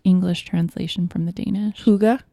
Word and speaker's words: hygge: isn't a direct English translation from the Danish hooga hooga I said because I'm reading the word yeah